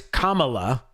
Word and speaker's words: Kamala: kamala harris you know you got to pronounce her name right it's kamala kamala harris and the celebrities are saying that they have this like quote yes we can even they're pronouncing her name wrong it's calm yes we come like like communist oh i know that's